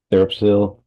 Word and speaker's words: TheraPsil: type in, you know, therapiler therapil without pronouncing the P. I know you're not supposed to pronounce the P, but I can't say it without pronouncing the P.